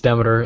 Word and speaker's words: Demeter: Is it Demeter or? Yeah, it's Demeter. At the beginning you had it wrong, but don't worry, everyone does that, so all right.